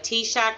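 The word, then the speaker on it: TSAHC: purchase on and if somebody will put the t-shock website t-shirt is a program Texas State affordable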